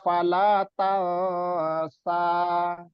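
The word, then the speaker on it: فلا تنسى: Jadi antara nun sukun dengan sa. Jadi nunnya jangan jelas-jelas ya pelafalannya. Terus persiapan lidah di huruf sa. Jadi fala tansa.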